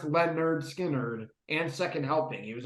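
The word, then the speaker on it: Lynyrd Skynyrd: Leonard Skinner, pronounced Leonard Skinner, and Second Helping.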